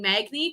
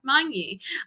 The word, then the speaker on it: Magni: pronounces my name correctly i'm used to saying magni because i just adopted that over the years but it is monkey i i live in